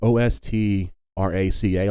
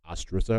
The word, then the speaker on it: ostraca: Like, it's spelled Ostraca, like ostraca, but it's actually like pronounced ostrusa or something like that, which is